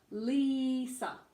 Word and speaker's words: Lisa: is ELISA okay so Lisa so we have our long e again so Lisa and